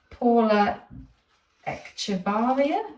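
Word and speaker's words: Paula Echevarría: Apparently it's the Paula eavaria. That's how you pronounce her name collection.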